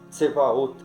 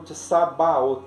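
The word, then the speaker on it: צבאות: palavra exércitos ou hostes, que é tsevaot, ela vem escrita como tsabaot, né? Porque usa-se a letra bet, e a letra bet também tem som de V, então tem a pontuação que indica essa pronúncia.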